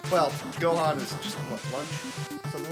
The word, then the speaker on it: Lunch: Well, Gohan is just, what, lunch? Something like that? Meanwhile, there's a character named Lunch. Or Lunch. Or Ranchi. Also funny that her name could be pronounced as Ranchi, because it's Akira Toriyama.